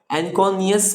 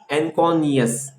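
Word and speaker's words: anconeus: ये इसका काम क्या है, तो ये भी एक सरफेस है जो अटैचमेंट कर रहा है एनकोनियस मसल्स से। इसका स्पेलिंग लिख लीजिए, ANCONEOUS, एनकोनियस।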